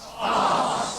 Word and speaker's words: Herts: How do you say, Herts or Hearts? Hearts. Oh, sorry. Well, if you're my mother in Liverpool, it's Herts, mother. If you're down here, it's Hearts. All right.